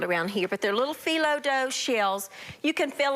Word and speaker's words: phyllo: These are found in your freezer department of your grocery store, and they're little mini phyllo dough. P-H-Y-L-L-O is how you pronounce it, and they're little tiny little phyllo dough shells.